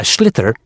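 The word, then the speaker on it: sliotar: you have to get this ball called a schlitter that's s SL IO t a r so it's not spelled the way it's pronounced you hit it into the net for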